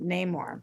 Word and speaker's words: Namor: Yay, more rhymes with Namor.